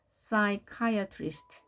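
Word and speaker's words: psychiatrist: 하나는 발음이 되지 않습니다 여기에서는 p가 발음이 되지 않습니다 그래서 풋사이 이렇게 읽지 않고 그대로 싸이 카이어 트위스트라고 발음을 합니다 ch는 취도 발음 되지만 크로 발음되기도 하죠 싸이 카이어트 리스트 이것을 이렇게 읽으면 안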